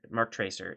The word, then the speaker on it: MarkTraceur: stream tomorrow oh cool make sure you say it correctly okay uh so you can say Mark Mark Tracer if you want uh a lot